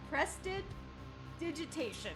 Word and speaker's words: prestidigitation: pronounced, Addie? Prestidigitation.